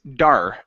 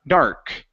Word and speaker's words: dark: have the word dark so here you're pronouncing a Portuguese R saying D okay instead of D it's dark dark dark d d okay